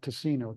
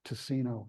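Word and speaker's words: Ticino: but it's pronounced toine because the Italians would pronounce it tacino TI c i n o tacino so toine habit but look we have a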